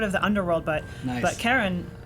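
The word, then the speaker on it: Charon: like I guess uh the community pronounces it Sharon after Charlene but it's officially named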